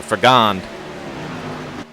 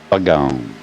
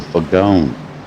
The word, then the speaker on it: Fagone: Or Fagond. Fagone. Fagond. No, Fagone. All right, Nation. That's how he pronounced it.